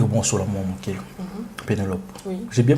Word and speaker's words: Pénélope: Pénélope. Oui. J'ai bien prononcé hein.